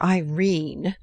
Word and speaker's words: Irene: a coward my daughter Irene said Mrs caryle she made it rhyme with terine has had no social